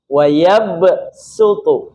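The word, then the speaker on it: يَبْسُطُ: Dalam qiraat kita, Hafaz membacanya dengan sin. Wayabsutu, bukan wayabsutu.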